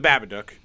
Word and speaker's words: Babadook: Rhymes with book. Babadook. On the Babadook.